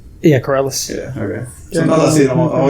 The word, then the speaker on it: Corrales: How do you pronounce that? Corrales? Yeah, Corrales.